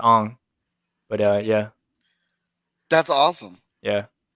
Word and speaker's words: Aang: It's just A-N-G, but it's pronounced Ong.